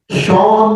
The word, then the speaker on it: Sean: और शॉन नाम तो सुना हुआ है, ठीक है शॉन। अब उसका स्पेलिंग SHAUN हो या SEAN हो, सीन क्यों नहीं हुए? नहीं, वो शॉन होता है बिकॉज़ दैट इज, ठीक है शॉन।